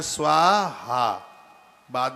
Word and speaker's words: स्वाहा: तो इसको सही उच्चारण है स्वाहा, बाद में स्वा के बाद हा, स्वाहा, स्वाहा, स्वाहा, स्वाहा, ये उच्चारण सही है इसका। स्वाहा, लास्ट में वो हकार है वो होना चाहिए।